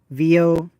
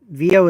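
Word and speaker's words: Veo: Google VO. VO is spelled V as in Victor, E as in Echo, O as in what was the phonetic name for O?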